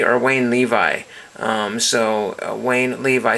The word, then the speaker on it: Wayne Levi: And this is Wayne Levy or Wayne Levi. Wayne Levi, spelled like Levi's, and there is that one.